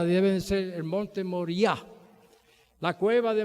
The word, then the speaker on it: Moriah: Y todas las palabras en hebreo que terminan en H, ahí se le pone el acento. Por ejemplo, cuando ustedes van a pronunciar el monte Moria, debe ser el monte Moriah.